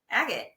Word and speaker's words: Agate: the firm name is Agate CPA. How do you Um, pronounce it? Agate.